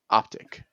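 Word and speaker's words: Optiq: Say it along with everyone. Optic.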